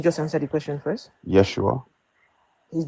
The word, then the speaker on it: Yeshua: Yeshua would have been the pronunciation.